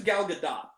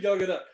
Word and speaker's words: Gal Gadot: I think it's Gal Gadot. I think that's how she Gal pronounced Gadot.